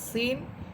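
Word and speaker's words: ث: আর সা এটা নরম করে পড়বেন।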